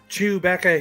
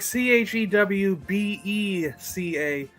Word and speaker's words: Chewbacca: Doesn't he go Chewbacca here? He calls him Chewbacca. That's right, with a B-E. Yeah, it's like Chewbeca. Chewbacca here is first mate